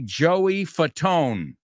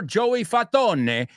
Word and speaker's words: Fatone: And number 3, Joey Fatone. Pero si separas Fatone, it's fat one. So it's not pronounced Joey Fat One or Joey Fatone, as the Italians would, but it's Joey Fatone, americanizado.